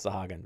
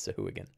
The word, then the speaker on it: Sahuagin: Yeah, a lot of people call it Sahuagin, but I believe, according to the pronunciation guide on D&D Beyond, it is Sahuagin.